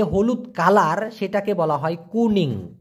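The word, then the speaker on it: kuning: colour সেটাকে বলা হয় কুনিং কি বলা হয় ভাইয়া কুনিং উচ্চারণ করেন তো প্লিজ উচ্চারণটা হবে কু নিং কুনিং এই কুনিং মানে হলো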